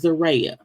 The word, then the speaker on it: Zeruiah: how to pronounce it her name was pronounced zere okay that mean her parents can't spell okay cuz the way